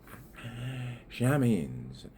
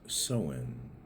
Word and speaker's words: Samhain: Shamines. S A M H A I N S. It's really pronounced soen.